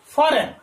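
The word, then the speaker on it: foreign: ई आई जी एन, फॉरेन, फॉरेन, ठीक है। तो यहां पर आप देख रहे हैं जो जी है वो कैसा है, साइलेंट है, ठीक, मुख है इसका, हम यहां प्रोनाउंसिएशन नहीं करते।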